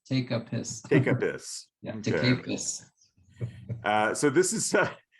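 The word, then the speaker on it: Tepusquet: but we call it take a pissed but that's the that's the Chumash pronunciation is take a piss take a piss uh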